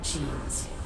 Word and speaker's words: Gene: Want to hear how genes is pronounced in German? Gene. It's written the same way. Genes, Gene.